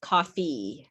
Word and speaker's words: coffee: means coffee uh but the way you pronounce it in english is coffee you have to fully pronounce that e it's a green sound right coffee coffee okay